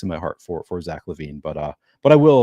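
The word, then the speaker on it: Zach LaVine: said the name um but yeah it is Zack LaVine uh as a Timberwolves fan he came up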